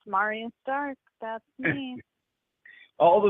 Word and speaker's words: Marya: Now, is that how you say your name, Marya? Marya? Yeah, that's how you say it, Andrew. Hi, yeah, Marya Stark. So great to be here. I thought I was going to say Marine at first, Marine Stark. No, it's Marya Stark.